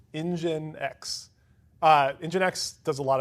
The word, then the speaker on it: nginx: you've ever seen it it looks like Minx it's it's one of those like you don't know how to say it until you hear someone else say it and you're like okay okay I get it all right so engine x uh nginx does a